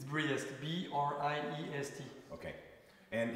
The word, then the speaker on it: Briest: But it's pronounced the same. All right, sorry. What am I doing? Last name? It's Briest.